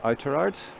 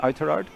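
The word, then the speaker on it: Oughterard: subs they're both from outer arts sorry i've pronounced that wrong with my northern pronunciation outer artisan iterard just outside galway city anyway i think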